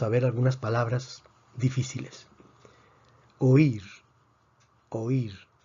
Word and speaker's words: oír: palabras difíciles oír oír o ir tiene dos sílabas o ir vemos que aquí tenemos un hiato porque tenemos una vocal abierta con una vocal cerrada y la fuerza está sobre la vocal cerrada por lo tanto esto